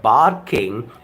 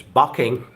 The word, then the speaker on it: barking: we we often neglect we often ignore we often try to get rid of that R it's not bad King it's not parking it's bucking and parking all your